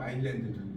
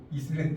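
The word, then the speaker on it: island: 섬이라는 것은 첫 번째는 말 그대로 아일랜드죠. 일반적인 섬이죠. 일반적인 섬. 아일랜드라는 이거 이슬랜드 아니에요. 아일랜드. 일반적인 제주 아일랜드. 무음이죠. 그렇죠. 무음이죠. 무음. 발음 안 하는.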